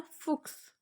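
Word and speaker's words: Fuchs: Next one है फुक्स।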